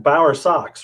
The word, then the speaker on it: Bowersox: and it's like yeah it's pretty easy it's just like it looks well and mine's always